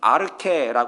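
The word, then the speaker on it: ἀρχή: 이렇게 읽습니다 요한복음 1장 1절에 나오는 태초 는 a 캐라 고 있습니다 발음이 다르잖아요 같은 단어가 아닙니다 그런데 한글 성경에서는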